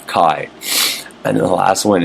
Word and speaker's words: Chai: It says Chai, it's C-H-A-I, the last word, but it's Shaddai El Kai.